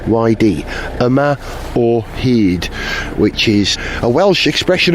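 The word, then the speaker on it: Yma o hyd: research the significance of that here's how you spell it y m a a or letter O he h yd a or heed which is a Welsh expression of resolution really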